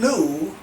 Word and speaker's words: lieu: Now, there's also what we call a deed in lieu of foreclosure. Not Mary Lou, not Sarah Lou, but a deed in lieu of foreclosure. And that's spelled L-I-E-U.